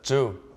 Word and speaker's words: Zhou: Uh my name is Ju Z H O U.